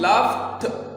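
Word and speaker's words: laughed: मिसाल के तौर पर लाफ, लाफ्ट, लाफ्ट, ये हम लाफ्ट ठ के साथ प्रोनाउंस करेंगे क्योंकि जी एच जब आता है तो ये फ आवाज देता है, और फ आवाज के बाद जब हम ईडी का इजाफा करते हैं तो ड नहीं आएगा बल्कि ठ आएगा।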